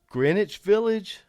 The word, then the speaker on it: Greenwich Village: Greenwich Village, I said, pronouncing it correctly for the first time, which was a practice try.